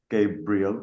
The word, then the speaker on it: Gabriel: I love my three syllable name, Gabriel.